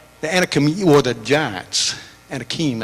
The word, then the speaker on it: Anakim: Anakim, I think is the proper way to pronounce it.